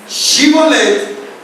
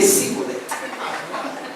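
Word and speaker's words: Shibboleth: Porque no es lo mismo Shibolet que Sibolet.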